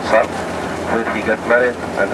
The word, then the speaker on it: Salt: Maybe it is written Salt, S-A-L-T, but we pronounce it Salt.